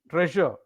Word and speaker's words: treasure: get it right and as I said Tre Tre treasure as if it is spelled t r a y s u r e so treasure will